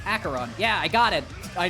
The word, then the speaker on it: Acheron: In case you were wondering, Acheron is pronounced Acheron.